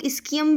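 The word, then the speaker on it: ischium: ठीक है, अब कुछ लोग इस्कियम भी बोलते हैं, कुछ लोग इशियम भी बोलते हैं। ठीक है, जहाँ पे मैं इशियम बोल रही हूँ आपको पता होना चाहिए, वो अगर कोई इसको इस्कियम प्रोनाउंस करता है तो ये दोनों जो हैं वो सेम चीज़ें हैं।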